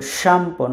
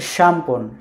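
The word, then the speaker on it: szampon: এস যেটা অনেকটা ওরা ওই স্বর মতো উচ্চারণ করে শ, সো শ্যাম্পন, শ্যাম্পন। এখানে দেখেন জেড কিন্তু উচ্চারণ হচ্ছে না, শ, এস যেটা হচ্ছে শ, এবং শব্দটা হচ্ছে শ্যাম্পন, শ্যাম্পন মানে শ্যাম্পু।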